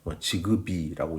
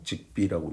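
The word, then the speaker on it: Zigbee: 대표적으로 여기 지금 직비를 써놨는데 지그비라고 읽는 분도 계시고 직비라고 읽기도 하는데요.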